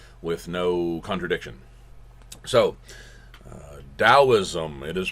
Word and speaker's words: Taoism: much looks like Taoism but no it is pronounced Taoism and we'll see some of these other basic